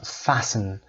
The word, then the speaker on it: fasten: Fasten. fasten تلفظش هم آورده، فونتیکش رو ببینید fasten نمیخونیم این رو.